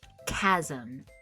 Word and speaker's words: chasm: Our first word is chasm. Be careful with this word because there is a ch at the start, but it makes more of a k sound. So, we would pronounce it as chasm.